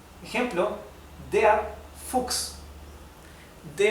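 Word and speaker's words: Fuchs: o en alemán diríamos C es que se pronuncia x como una x ejemplo de fux The F significa el zorro el animal El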